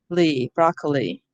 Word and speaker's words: broccoli: Broccoli. Will our students be able to read this? We'll probably have to tell them the I is an E sound.